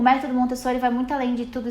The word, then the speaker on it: Montessori: estamos no Brasil e em português a gente tem costume, né, de fazer Montessori, mas em italiano é Montessor, então não tem certo nem errado, depende de como você pronunciar, mas em italiano que é a origem, né, do nome é Montessori.